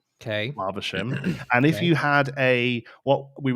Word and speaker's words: Flavisham: So the correct pronunciation of the word Flavisham, basing it off of the derivative of Faversham, is you pronounce the a in fav the same way you pronounce the a in grass. So if you say grass and bath, you say Flavisham.